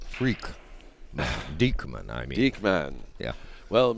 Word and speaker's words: Dieckman: D-I-E-C-K-M-A-N. Right. Pronounced freak. Dieckman, I mean.